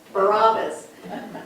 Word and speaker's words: Barabbas: Barabbas.